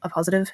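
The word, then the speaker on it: appositive: So I wanted to do an Apositive because I wasn't sure how this was going to go, and it's a pretty simple thing to explain.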